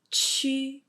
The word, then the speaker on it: qu: So for example, when you say J and U together, it's pronounced as a Ju, and Q and U pronounced as a Chu, X and U pronounced as a Shu, and Y and U pronounced as a Yu.